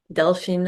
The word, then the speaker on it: Delphine: Okay, Delphine. Delphine. I always feel like I'm pronouncing your name wrong. No, it's all good. Delphine, I don't mind.